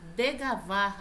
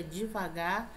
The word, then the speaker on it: devagar: Degavar, a pronúncia errada aqui é devagar.